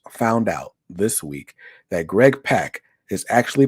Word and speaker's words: Greg Pak: out this week that Greg Pak is actually pronounced Greg Pak. How did I find that out? I followed him on Twitter, and on his Twitter he says rhymes with rock.